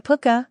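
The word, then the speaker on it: Púca: The puka, pronounced puka, also known as puka or puka, is a shapeshifter.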